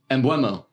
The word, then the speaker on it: Mbeumo: Mbeumo. That's how you pronounce it.